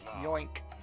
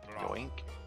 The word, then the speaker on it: Yoink: you now listen closely the Wizard's name is yoink yoink kind name is yoink no no you're not saying it right it's more like yoink so she's about to